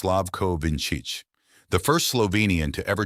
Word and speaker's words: Slavko Vinčić: The referee, Slavko Vinčić, pronounced Slavko Vinčić, the first Slovenian to ever take charge of a World Cup final.